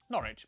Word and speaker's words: Norwich: stir Lester Worster gluster w at the start of the final syllable is silent Norwich Beric souk e r